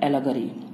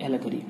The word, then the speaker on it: allegory: Speech के बारे में जानेंगे, जिसका नाम है एलगरी और इसका स्पेलिंग है ALLEGORY, एलगरी।